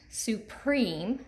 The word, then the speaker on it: supreme: Supreme, so we hear that long E in the second syllable.